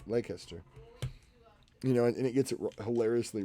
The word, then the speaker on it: Leicester: Because you didn't say it right. It's Leicester.